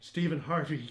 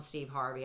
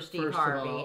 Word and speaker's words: Steve Harvey: fly gosh' the great stepen Hardy who sorry stepen Harvey came wow stepen I was thinking of Hardy